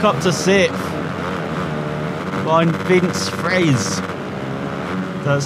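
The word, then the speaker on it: Friese: Behind Vince Fraze.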